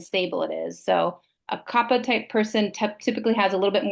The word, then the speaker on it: Kapha: Sometimes it's pronounced Kapha, but it's actually Kapha.